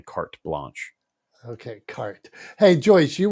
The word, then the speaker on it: carte blanche: mispronouncing it but it's there's definitely a t in there it's definitely carte blanche okay cart hey Joyce